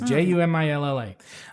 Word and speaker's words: Jumilla: And this is from Jumilla, Spain. I don't know how to say it. It's Jumilla.